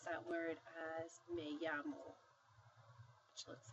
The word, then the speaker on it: llamo: So whenever you see two L's together, you pronounce it like a Y.